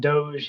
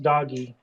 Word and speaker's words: Doge: It why he pronounces it Dogecoin because of that Doge history. Doge. But the meme that predates the coin by five ten years was pronounced doggy.